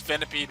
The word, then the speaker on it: Venipede: to train some venom petty purposely purposefully being mispronounced here i know it's venipede we're lepid sculloped but in the early games of gen 5 my mother pocket jim and i often called this vanipety were le petti and scala petty so normal